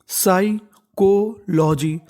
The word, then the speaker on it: psychology: PSY में हमारा जो P है वो साइलेंट रहता है और आपको इंग्लिश में